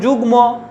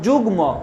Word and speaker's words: যুগ্ম: কীরকম দেখো যুগ্ম, দেখো যুগ্ম, গয়ের উচ্চারণ হচ্ছে, ময়েরও উচ্চারণ হচ্ছে, গুল্ম ল এবং ম দুটোরই উচ্চারণ হচ্ছে, এবং তন্ময়, দেখো তন্ময়, ময়ের পরিষ্কার উচ্চারণ হচ্ছে।